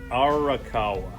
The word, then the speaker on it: Arakawa: to get it right yeah this is arakawa r okay right yeah well that's how i pronounced it anyway so okay anyway and now